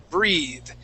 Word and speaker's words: breathe: two words okay uh breath without an e at the end that is a short e sound okay short e breath all right uh but if we have an e at the end of the word okay that is a long e okay the word is breathe and that is a verb so breath is a is a noun okay and breathe is the verb to breathe okay breath